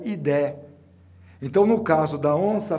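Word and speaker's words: idae: em latim e que termina sempre em i Idi você pronuncia idé então no caso da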